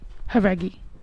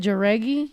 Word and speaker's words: Jauregui: legend herself the legend herself Lauren that's me heri yeah okay say it right right remember when I used to say it jury no no I'm saying when at the beginning